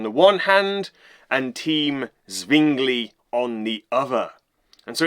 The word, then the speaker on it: Zwingli: Team Luther on the one hand and Team Zwingli on the other.